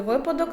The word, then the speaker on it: випадок: допоможе вам запам'ятати що в слові випадок наголос на першому складі агур нічого особистого людина